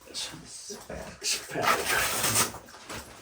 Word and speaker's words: spherical: spherical, spherical. ph 발음이 fu니까. spherical.